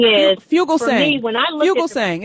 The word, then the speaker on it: Fugelsang: I like that idea, and I got that from John Thuger saying.